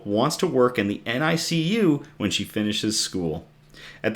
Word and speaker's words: NICU: So, NICU is how it's pronounced in a hospital.